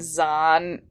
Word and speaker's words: Zahn: So we're here today to talk about the new incarnation of Thrawn by, of all people, Timothy Zahn, which oddly rhymes with Thrawn.